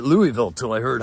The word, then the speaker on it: Louisville: how do you say Louisville. So I used to say it Louisville till I heard how Jared says it.